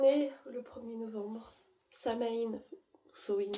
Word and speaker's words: Samhain: Samhain, Samhain comme la manière de prononcer, est terminée.